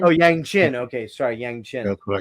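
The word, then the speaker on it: yangqin: Yangchin. Yangchin. Okay, as played by Gerrard. And what's that? Yangchin, like your chin. Oh, Yangchin.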